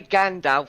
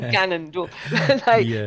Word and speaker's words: Ganondorf: But Ganondorf, I always say it wrong, so I usually say Gandalf, but I don't Nice. I mean Ganondorf.